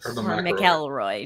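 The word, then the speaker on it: McElroy: Cardinal Maroy. Yes. Mckelroy, depending on pronunciation.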